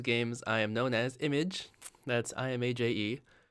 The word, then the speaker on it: Imaje: In all of those games, I am known as Image. That's IMAJE. It's spelled out on my YouTube channel, as you can see.